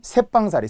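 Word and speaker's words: 셋방: 또는 새빵사리.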